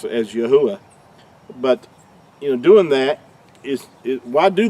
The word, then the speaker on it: Yahuah: Creator's name is pronounced Yahuah, and it's not. That third letter, we've already talked about this, makes an oo sound, not a W sound or a V sound.